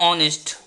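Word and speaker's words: honest: एक एग्जाम्पल लेता हूँ, ऑनेस्ट, ये शब्द जो है इसमें बहुत सारे बच्चे गलती करते हैं। तो ये उच्चारण पे है, जैसे मान लो आप क्या इसका उच्चारण करोगे, एच है, तो सर आप तो बताए थे एच जो है हमारा वो कॉन्सोनेंट है, देन इससे पहले जो हम ए का यूज होगा, पर ये गलत है।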